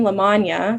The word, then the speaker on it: Lamagna: So for example, Lamagna sounds like lasagna.